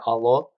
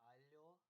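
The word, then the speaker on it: алло: You say allo when you're on the phone. It's not hello. So allo is, you might also hear it sometimes pronounced as allo, like as if there's a Y in there.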